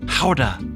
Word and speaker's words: Gouda: and a half of gouda which fun fact is a dutch cheese that's actually pronounced howda it's fun to make